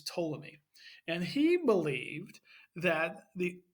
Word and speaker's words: Ptolemy: Now, the P is silent, it's not Ptolemy, but it's Ptolemy.